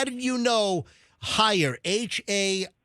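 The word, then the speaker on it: Haier: I pronounce it higher.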